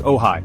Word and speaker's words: Ojai: Welcome to Ojai, pronounced Ojai, a valley of peace, art, and pink sunsets.